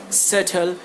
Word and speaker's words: subtle: So like the correct pronunciation will be dot, dotful, subtle, and date.